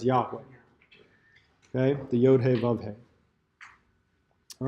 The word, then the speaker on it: Yahweh: whenever they came across the Tetragrammaton which is the four letters that stood for the name of God which we tend to pronounce or vocalize Yahweh okay the all right